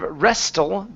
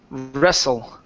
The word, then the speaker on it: wrestle: okay this word here instead of restle the T is silent the word is wrestle russle wrestle okay all